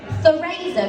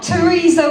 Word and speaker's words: Theresa: I'm Theresa with an E, not Theresa with an A. Try smiling when you say it and your lips will lead the way. Or pronounce it like the Spanish, Flemish, Dutch or Portuguese, where Theresa sounds less flaccid than it does in Londonese.